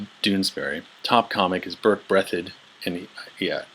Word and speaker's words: Breathed: top comic is Burt Breathitt Andy yeah it's spelled breathed but it's pronounced Breathitt bloom County so if